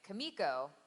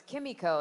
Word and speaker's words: Kimiko: there's this masseuse and I was pronouncing it Kumiko and Bob singer who is directing that episode he said no it's Kimiko and it's actually based